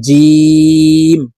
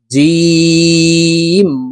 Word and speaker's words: ج: শুদ্ধ করে পড়তে হবে, জিম হরফ জিহ্বার মধ্যখান থেকে উচ্চারণ করব।